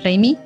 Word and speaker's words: Raimi: de champ reina osa se escribe sam raimi pro 6 y sam reimi sobre esta película sólo